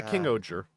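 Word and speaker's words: King-Ohger: Is that how it's pronounced? Oh, yeah. King Oer.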